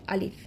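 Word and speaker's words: ألف: এই 29টি হরফের প্রথম হরফই হচ্ছে আলিফ। আমি যখন আলিফ উচ্চারণ করছি, আ লিফ, আ লিফ, দেখুন এখানে কিন্তু টেনে পড়ছি না।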